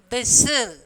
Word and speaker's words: whistle: So, here T is the silent letters. In the box, first one you have to write whistle.